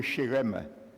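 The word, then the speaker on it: חרם: Le mot hébreu utilisé dans ce verset et traduit par voué à l'interdit, c'est le mot hébreu shérem. Shérem. Et n'oublie jamais, note-le. Il s'écrit, je te nomme même comment il s'écrit.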